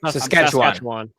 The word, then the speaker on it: Saskatchewan: But the problem is these conservative provinces, Alberta and Sask Sask, sorry, Saskatchewan. Saskatchewan. I'm so bad at pronouncing.